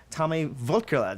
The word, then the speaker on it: Tommy Wirkola: of Hansel and Gretel Witch Hunter, Tommy Wirkola.